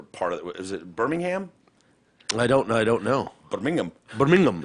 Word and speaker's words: Birmingham: Was it Birmingham? I don't know. Birmingham. Birmingham. Yeah, that's so they put the emphasis. Birmingham. They put the emphasis on the wrong syllable all the time.